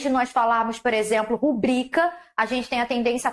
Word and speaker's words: rubrica: Recorde, não é rúbrica, é rubrica alteração de sílaba tônica na pronúncia do vocabulário.